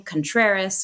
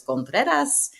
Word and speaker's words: Contreras: Thus the last name, Contreras, unless you want to pronounce it really, really well, which is Contreras.